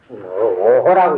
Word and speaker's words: 於戱: 오호라고 읽어야 됩니다.